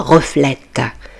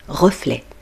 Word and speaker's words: reflet: Remarquez bien que le mot T du mot reflet est muet. Il ne se prononce pas. On ne dit pas reflète. Non, on dit reflet.